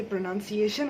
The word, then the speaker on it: pronunciation: बट जब ये प्रोनाउंसिएशन हो जाता है तब ये प्रोनाउंसिएशन होता है, इट्स नॉट प्रोनाउंसिएशन.